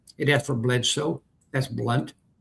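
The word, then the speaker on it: Blount: So that's how you pronounce Blunt. You pronounce it Blunt.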